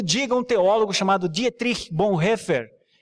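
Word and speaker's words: Bonhoeffer: nenhum que o diga um teólogo chamado Dietrich Bon heffer é essa pronúncia mesmo tom tirich Bon hefer tá ah é porque um dia eu falei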